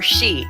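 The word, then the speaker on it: 四: that because uh uh in Japanese you can either pronounce it yon or she and she also means death why would you ever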